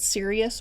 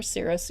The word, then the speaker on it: Sirius: with orion's belt and you can pronounce it sirius or serous either way it doesn't matter this alignment sends out